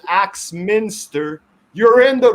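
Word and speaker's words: Axminster: village in britain called axe minster you're in the wrong website it's like a minister with an axe but the axe is spelled a x that's exactly awesome thank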